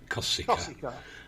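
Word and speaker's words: Košice: So it's Pride and then Kosice for Kosice, not the way he said it, Kosice.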